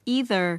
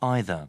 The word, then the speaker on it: either: 자, 그 다음에 특히 Part 2의 답으로 잘 나오는 애들인데 이런 발음이에요. either, 이렇게 either, 해보세요. either, either 하지만 자 영국 친구들은 either, 이렇게요. either, 자, 모음도 틀리고 뒤에 R도 틀리고 해서 either.